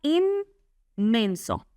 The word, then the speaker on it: inmenso: inmenso. Se pronuncia inmenso porque la n se asimila al mismo sonido m.